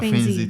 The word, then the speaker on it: Fainzy: so for your Fainzy, am I pronouncing it correctly? Yeah, Fainzy. Fainzy Fainzy Technologies. So what does Fainzy Technologies mean? Fainzy, like Fainzy, the word Fainzy came from the word feign.